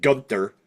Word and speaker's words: Gunther: How do you have Gunther, I'm sorry, in the honor of how they pronounce it, Gunther, lose to a single crossroads?